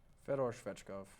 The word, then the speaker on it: Fedor Svechkov: Fedor Svechkov.